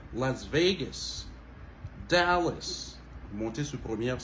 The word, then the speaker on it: Las Vegas: On monte sous veille, ok? Las Vegas. C'est pas Las Vegas, ok? Mais c'est plutôt Las Vegas.